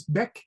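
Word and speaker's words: Bach: So, Ben, you spell it B A C H. But the pronunciation is Beck.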